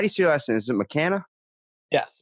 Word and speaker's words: McKanna: now how do you see your lesson isn't mccanna yes mccanna first try look at that I'm getting better at these name pronunciations I'm impressed man and so wait give